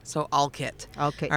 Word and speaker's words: Olcott: Uh when I first came and introduced myself to you, you did not call it Alcott. You said I said Alit, which is the way the locals pronounce it.